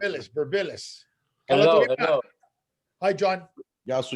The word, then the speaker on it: Birmpilis: Hi, Birmpilis. That's how you pronounce it. Birmpilis.